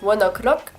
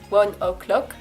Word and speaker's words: ONE OK ROCK: Ah oui, fun fact d'ailleurs, leur nom donc c'est One Ok Rock, mais avec l'accent japonais dont il faut parler au début. Ça se prononce One O'Clock, One Ok Rock, One O'Clock, One O'Clock.